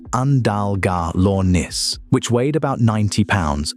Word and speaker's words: Andalgalornis: They took a mid-sized terror bird called Andalgalornis, pronounced Andalgalornis, which weighed about 90 lb and stood about